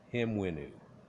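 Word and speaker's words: Hemiunu: thing um if we were to look uh him winoo h-e-m-u-i-n-u although they spell it a couple of different ways you'll see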